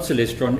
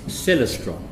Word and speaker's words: Celestron: to me you know it's not Celestron it's Celestron and he said they